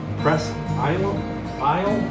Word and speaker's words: Presque Isle: these all up on I believe you pronounced it press is aisle in Michigan that's where